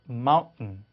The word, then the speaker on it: mountain: held t 그래서 뭔가 멈췄다 t가 나온다 이렇게 설명하기도 하는데요. 그래서 mountain 이런 발음입니다.